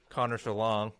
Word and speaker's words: Connor Schellong: And we have our superstar special guest of the day, of the week, Connor Schellong, if I pronounced that right.